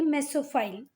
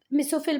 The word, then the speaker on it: mesophyll: किस में होते हैं, इसकी करेक्ट प्रोनाउंसिएशन की बात करें तो ये है मेसोफाइल, ठीक है बात। मैं मेसोफिल बोल देती हूँ पर वो है क्या, मेसोफाइल।